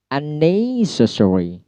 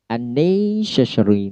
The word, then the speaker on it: unnecessary: Unnecessary. Unnecessary. Ne-nya di stress.